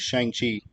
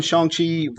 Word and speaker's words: Shang-Chi: wanted to read was shang chi number one true apparently that's we've all been saying it wrong we've been saying